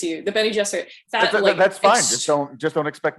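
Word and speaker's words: Bene Gesserit: they have any self-determination, they're kind of witchy Benny Garrison, which, by the way, I am going to be mispronouncing everything, and it's okay.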